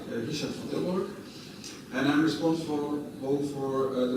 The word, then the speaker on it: Richard van Tilborg: I pronounce it in Dutch like Richard van Tilborg, and I'm responsible for the marketing part of it.